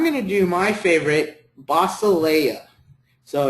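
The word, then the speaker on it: βασιλεία: And I'm going to do my favorite, basileia. So it's beta, alpha, sigma, iota, lambda, epsilon, iota, alpha. Basileia.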